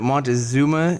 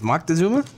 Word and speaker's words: Moctezuma: can tell you that Montezuma I think it's Moctezuma okay maybe Moctezuma so there are two